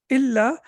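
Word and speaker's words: إلا: is read as Yeah, illa. the noon gets dropped in. Gets dropped. Yeah, the pronunciation of the noon gets dropped, right? Yeah. So that's why it becomes Allah, an plus la, that no, that don't.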